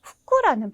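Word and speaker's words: 副: 근데 요건 좀 독특하게 후쿠라는 발음을 가집니다.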